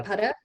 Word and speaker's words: Gaudapada: Oh, the philosopher, Yeah, Gaudapada. Goda. That is G-A, oh, yeah, you can spell it that way too.